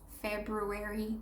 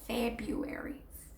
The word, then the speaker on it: February: But nobody in the States says February. They say February.